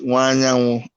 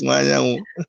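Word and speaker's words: Nwanyanwu: Let me quickly correct. My surname is Wanyanwu. Wanyanwu. But I forgive you. It's okay. It's Wanyanwu.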